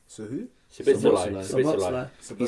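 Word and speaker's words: Szoboszlai: How do you pronounce it? Sabotzlai. Sabotzlai. So who? Sabotzlai.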